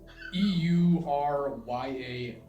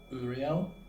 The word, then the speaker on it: Euryale: Now, these are Greek names, so I do apologize if I mispronounce these, but the sisters are Sethino and Uriel. Something. Uriel. Ariel. It's Euryale. So yeah, it's Uriel.